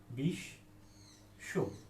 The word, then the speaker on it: বিশ্ব: বুঝতে পারবো যে হ্যাঁ, বিশ্ব বানানো হচ্ছে শয় বলা হয়েছে এবং বয়ের সঙ্গে বয়ের উচ্চারণটা হবে না, সেক্ষেত্রে হচ্ছে যে বর্ণের সঙ্গে বফলা রয়েছে সেই বর্ণটা দ্বিতীয় উচ্চারণ হবে।